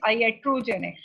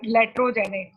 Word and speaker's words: iatrogenic: Dear students, remember the number 5, it is iatrogenic, not laterogenic. जो गलती से सब students जब pronounce करते हैं तो इसको L पढ़ लेते हैं. This is I, capital I.